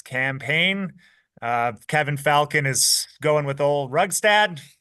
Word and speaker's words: Falcon: Like Kevin Falcom, his name is. I think I'm correctly pronouncing him. No, that is the man, the myth, the legend. Kevin Falcon, Yeah.